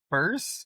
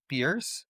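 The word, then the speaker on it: Peirce: So, as I've said, you know, Charles Sander Pur, it's by the way, uh, pronounced as P purse, not Pierce, it's Purse, right?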